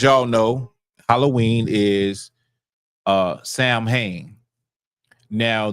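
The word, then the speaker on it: Samhain: So, Halloween, as y'all know, Halloween is uh Sam Hayne. Now, the way it would have been pronounced is sawing. Okay, sawing. But because I don't feel like doing all that, we're just going to say Sam Hayne.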